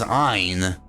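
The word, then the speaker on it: għajn: Now, if you type in G-H-A-J-N, now you would read that as Ein, which is just like the silent letter Ein that you're adding to the beginning of Ein to make it sound like Ein.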